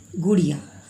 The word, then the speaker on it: गुड़िया: ऐसे तो हम लोग बोलते नहीं हैं बच्चों, गुड़िया ऐसे हम लोग उच्चारण नहीं करते हैं। उच्चारण कैसे करते हैं? गुड़िया, गुड़िया। यानी ये सॉफ्ट साउंड कम समय के लिए ये छोटी ऊ का प्रयोग करते हैं।